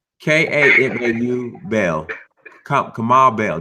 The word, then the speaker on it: Kamau: Kamal Bell. Let's say his name well. Say it right. Kamau Bell.